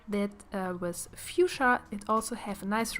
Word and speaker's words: Fuchsia: In Germany, we have the same word, and it's pronounced Fuchsia, which I kind of like too, so you can go with either of the pronunciation, and I think it really fits her well.